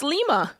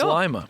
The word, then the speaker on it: Lima: Well, in Peru it's Lima, but I guess it's in Ohio it's Lima.